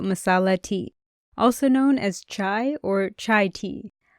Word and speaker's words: cha: Today's episode is all about masala tea, also known as chai or chai tea. I'll be calling it cha because that's how it's said in Punjabi.